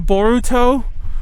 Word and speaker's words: Boruto: you guys know that boruto is bolt and i hate that they call him the show is called boruto because naruto is a word in japanese but boruto is the japanese pronunciation of bolt so why isn't that